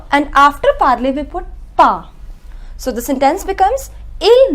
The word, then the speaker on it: pas: The pronunciation is n and pa.